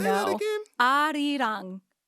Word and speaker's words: 아리랑: So, but that's obviously in Korean itself. That's like Hangul Korean. So like that's how you pronounce it phonetically in Korean.